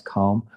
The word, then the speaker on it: calm: It's a shame that the L is left out when you pronounce calm.